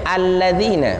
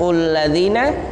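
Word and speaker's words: الَّذِينَ: Ya, ketika lafaz alladzina itu bacanya alladzina, bukan ulladzina, bukan illadzina. Alladzina dha ya.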